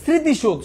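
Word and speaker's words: স্মৃতিসৌধ: না তাহলে দেখো তো মাথায় রাখবা যদি ম ফলা থাকে তখন একটা কি উচ্চারণ হবে চন্দ্রবিন্দু টাইপসের একটা স্মৃতি স্মৃতি নাকে বাজে উচ্চারণ হবে তার মানে চন্দ্রবিন্দু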